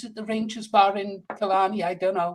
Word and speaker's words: Killarney: Is it the Rangers Bar in Killarney? I don't know. It's not Killarney, it's Killarney. Killarney.